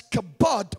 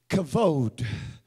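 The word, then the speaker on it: כבוד: we pronounce it as kabad but it's really in the Hebrew when you speak Hebrew you say it this way cavod somebody say cavod so it's not the kabod of God like we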